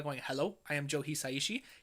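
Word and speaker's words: Hisaishi: hello I am Joe heishi he always pronounces it heishi so uh yeah I'm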